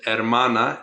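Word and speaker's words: hermana: sister and brother the word for sister is ermana h e r m a n AA type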